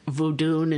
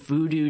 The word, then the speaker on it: Vodun: lot about and um obviously I know that vodun and so forth are the correct pronunciations of these things I tend to refer to the old Voodoo just because so many of the movies I